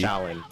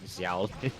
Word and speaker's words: Xiaolin: Shaolin. Shaolin. Xiaolin? You pronounce it Shaolin, not Xiao. Yeah, whatever.